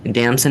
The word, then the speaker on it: Damson: He's my co-host for today, and today we are interviewing Damson. Is that how you pronounce it?